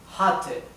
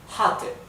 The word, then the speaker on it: hatte: Acá, la A, como tenemos una doble T, se pronuncia corta. Hatte.